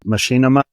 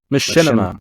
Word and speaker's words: Machinima: pretty sure you know it what is that Machinima machima Machinima see I'm close to eat Rusty on the mic folks don't hate okay Machinima Creator yeah is that true is that where